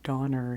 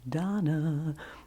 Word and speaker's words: Donner: Cupid and Donna and instead of saying Donner he says Donna is the way he pronounces it and my mom's first